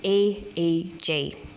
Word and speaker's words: EEG: says an EEG that's an abbreviation we don't pronounce it 8 we say e EG EEG stands for electroencephalograph that's a type of